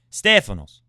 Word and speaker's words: Stefanos: of warmth towards young stefanos oh stay phonos stay finals accent on the E don't forget for the Greek listeners stay a finals Stefano's okay I don't